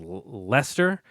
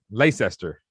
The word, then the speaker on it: Leicester: taking uh this is don't you pronounce this lester uh over i thought it was late uh lace esther i thought i think it's like let just lester i think the the c is silent damn brits man i